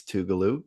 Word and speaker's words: Tugaloo: tomorrow against tugaloo College I had to research how to pronounce that it's talo they're The Bu we're